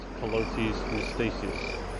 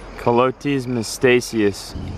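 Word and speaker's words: Calotes mystaceus: Colotes mystacius. Colotes mystacius.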